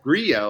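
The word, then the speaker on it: Grillo: similar with uh with with Grio, I believe, is true Argentinian pronunciation, but I'll say Gillow because, you know, we're here and we're we only know how to pronounce it in the English way, but for straight.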